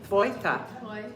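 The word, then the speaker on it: твоята: So it's tv. So you're saying T and make it like an F. Tvoi. Tvoita.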